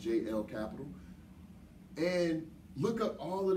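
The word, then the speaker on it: Jelle Capital: left the capital of Jay e ll it's pronounced jl capital and look up all of the different products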